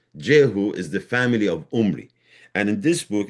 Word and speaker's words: Omri: The Hebrew name Omri begins with the constant Y called Ayin, which is pronounced with the guttural H and is represented in Assyrian transliteration as G or Ch. The Israelite would naturally pronounce Umri as Ghumri or Khumri, which became Khumri in Assyrian.